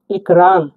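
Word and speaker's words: экран: আর এ হয়ে থাকে উচ্চারণ হবে এ এর মত উদাহরণটা আমরা দেখছি দেখুন একরান একরান মানে কিন্তু পদ্দা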